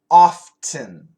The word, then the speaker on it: often: is much more common no T is much more common but some people do say often St p n the